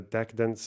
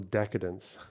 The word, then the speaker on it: decedent: the direction of the decedents and firing. It's not hang on. Fuck me. Give me pronunciation. Decedent. Decedent. Oh, because they're dead. Jesus Christ. Of the decedents and firing several times, not the decadents.